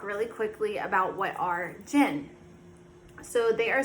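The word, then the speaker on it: jinn: going to talk really quickly about what are gin so they are spelled j-i-n-n or d-j-i-n-n um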